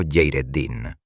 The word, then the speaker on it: Hayreddín: Allí operaba el legendario corsario otomano Hayreddín, pronunciado Yeireddín, conocido universalmente en Europa bajo el temible histórico apodo de Barbarroja.